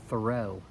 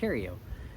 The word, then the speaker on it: Theriault: I started watching him, and I started calling him Ronald Thoreau. Thoreau. I thought that's how he pronounced his last name, and then come to find out it's Theriault.